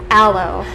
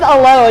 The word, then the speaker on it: aloe: me how to pronounce this one because I mispronounced it it's a low I did everything I said hello it she was like what hello that's what this is yeah an aloe vera mm-hmm and it's a very old plant